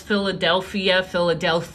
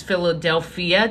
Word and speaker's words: Philadelphia: My dad calls Philadelphia, like THIA. And I'm like, Dad, there's no TH. It's Philadelphia. Technically, it's phonetically the same sound, but your tongue is placed somewhere different.